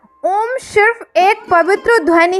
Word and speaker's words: ओम: ओम को ओम कहा जाता है, उसमें भी बोलते वक्त ओ पर ज़्यादा जोर होता है।